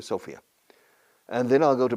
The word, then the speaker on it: Sofia: go to Sofia, or Sofia in Bulgaria, se pronuncia Sofia, and then I'll go to Belgrade, Serbia, and